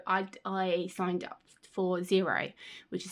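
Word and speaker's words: Xero: So I I signed up for zero which is spelled with an X. I was pronouncing it X0 but my husband was like no it's pronounced zero.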